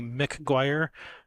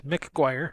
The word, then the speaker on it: McGuire: It's Tammy McGuire, MC. At first I had it written like McGuire, like Jerry Maguire. Said no, it's McGuire.